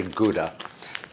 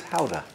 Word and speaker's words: Gouda: Some people say Gouda, but apparently the correct pronunciation is Howdah.